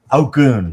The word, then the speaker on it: Ogun: Or the other Ogun, or I can't remember how to say it. Ogun, yes.